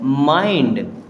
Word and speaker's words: mind: अब MIND, इसे हम मिंड नहीं पढ़ेंगे, इसे पढ़ते हैं माइंड।